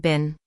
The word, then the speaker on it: been: But it turns out my teacher was talking about the verb bin.